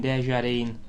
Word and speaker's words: Desjardins: Within 11 seconds, Muller and Desjardins, I think that's how you pronounce his name, it's a silent S, I'm pretty sure.